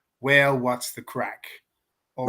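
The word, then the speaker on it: craic: Which crack is spelled CRAC, which is the Gaelic word for fun or enjoyment.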